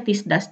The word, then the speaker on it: tisdags: Tulisannya tisdags tapi dibacanya tisdags. Jadi ilangin deh tuh G-nya ya.